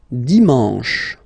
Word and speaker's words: dimanche: And the last one, dimanche, dimanche. You get the sh, and then an, dimanche.